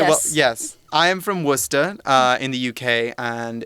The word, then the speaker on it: Worcester: gets it right I know how to say Worcester okay well yes I am from Worcester in the UK and it's famous for was